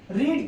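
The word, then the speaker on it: read: रीड की third form क्या होती है? रेड। स्पेलिंग यही रहेगी बट प्रोनाउंसिएशन इसकी डिफरेंस हो जाती है।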